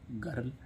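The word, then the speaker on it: girl: हैं अगला क्या है जी आई आर एल इसमें भी आई आर आई आर के पहले क्या है व्यंजन और बाद भी क्या है व्यंजन तो इसको क्या पढ़ेंगे गर्ल ऐसे ही इसमें एस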